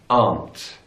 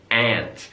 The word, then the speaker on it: aunt: In British English, aunt. Aunt. So it's that sound, aunt. In American English, aunt. Ant.